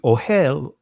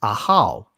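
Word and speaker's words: אהל: And see on your screen, you see ohel, right? Which the actual pronunciation in ancient is ahal. So ohel versus ahal, right?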